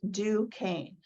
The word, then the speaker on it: Duquesne: here on the screen it's pronounced do cane it's a French word um but it's it's